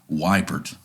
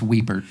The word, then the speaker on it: Wiepert: say your last name wiper nope that's that's what everybody says everybody that's what I'm saying there's only there's a couple handfuls of people that have ever said it right yeah uh it's weeper see that was the